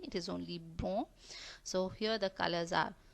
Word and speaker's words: blanc: We never pronounce it blanc. Here we are not having the sound of C. The last C we are not pronouncing. It is only blanc.